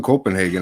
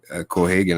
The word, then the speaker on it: Cohagen: Even Copenhagen as a villain in this one, and Copenhagen. Why did I say that? It's the way it's spelled on fucking IMDb. It's COPP or some shit. But yeah, Cohagen.